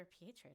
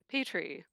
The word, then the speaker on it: Pietre: Yeah, calling him Peter is perfectly acceptable. I don't want to do that. I want to say it correctly. I just can't get the roll of the tongue quite right. That's okay. It takes practice. I prefer Peter to Petrie because that is even further from the point.